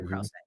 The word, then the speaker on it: Krause: Krause.